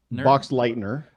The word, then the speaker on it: Boxleitner: And the acting was so shaky that I feel that's why they brought in Bruce, I never know how to pronounce his name, Boxleitner? Boxleitner.